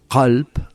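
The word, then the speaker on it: قلب: Por ponerte un ejemplo, si nosotros decimos qalb, con una K gutural, qalb significa corazón, pero si te decimos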